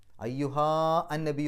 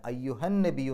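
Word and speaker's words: أيها النبي: വന്നതുകൊണ്ട് ആ നീട്ടൽ നഷ്ടപ്പെടും അയ്യുഹാ അന്നബി എന്ന് പറയില്ല അയ്യുഹന്ന നബിയു എന്നാണ് പറയുക എന്തുകൊണ്ട് അയ്യുഹാ എന്നുള്ളതിന്റെ ആ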